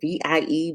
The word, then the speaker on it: Vie: It's spelled VIE Beauty, but it's pronounced V, and it's a hydrating rose water.